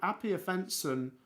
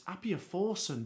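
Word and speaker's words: Appiah-Forson: So, Appia Fenson, he got in. It's Appia Forson. Blooming hell. Sorry, I got his name wrong.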